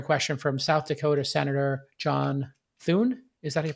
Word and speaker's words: John Thune: good answering a question from south dakota senator john thune is that he pronounced his name sean doon yes okay about facebook's engagement based ranking and